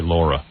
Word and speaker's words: Laura: She this Lara Flynn Bole, they say her name is Lara. It's really Laura, but this Lara Flynn Bole, the one from um Twin Peace, right?